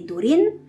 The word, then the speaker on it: Durin: dans Narvi ou Esgaroth, prononcer le U en U, comme dans Umbar et Durin, prononcer le CH et